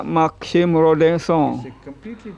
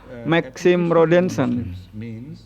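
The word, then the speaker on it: Maxime Rodinson: dari seorang penulis namanya Maksim Rodeng Song. Rodengong adalah eh ejaan Perancis, pengucapan Prancis, sedangkan bahasa Inggrisnya adalah Maxim Rodenson.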